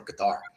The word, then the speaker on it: Qatar: So there's no reason to take it as Air Force One, not from another country, especially from Qatar, or Qatar, however you want to pronounce it.